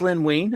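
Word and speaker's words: Len Wein: It's pronounced Lynn Wein. I think Wein's how you say it.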